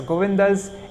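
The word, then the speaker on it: গোবিন্দদাস: say gobin does and remember at the ends if there's a short a consider it's not there so govindas ends with the duh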